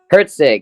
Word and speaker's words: Herzig: say your last name Herzig it's German that's how I was